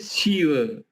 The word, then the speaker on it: Shiva: Kemudian Shiva, ini ke sesaga. Se-nya agak di atas, di langit-langit di atas, bagian depan dekat gigi tapi di langit-langit. She. Om Namah Shivaya.